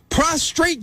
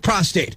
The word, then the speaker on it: prostate: ntpd Blue all right prostrate cancer would suggest a cancer of lying down on the ground there's only one R in the proper spelling or pronunciation of prostate if your doctor mispronounces